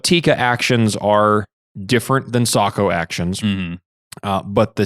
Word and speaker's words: Sako: was going to say is I mentioned the Sako rifles ah the Sako Sako or as us